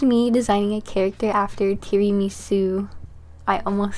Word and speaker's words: tiramisu: my favorite dessert is Terry mimasu okay sorry that's not how you say it tiramisu which is an Italian